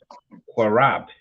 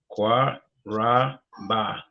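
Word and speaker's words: קרב: Pronounce it nice and slow for the metaverse. Qua Ra Ba. Okay, now put it together. Quarab. Qua Rob.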